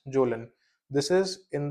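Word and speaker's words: Kjølen: इसमें we have example of mount zone we write as के जे O double L ए एन बट इसको pronounce करते हैं एज जोलन this is इन द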